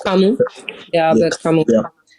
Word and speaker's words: Camus: I don't think it's pronounced Camus. I think it's pronounced Camus. It's Camus.